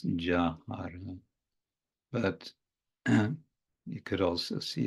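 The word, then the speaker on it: যাহার: But typically that so-called Y in the beginning of the word is pronounced as the English ja. So it's jāhāra.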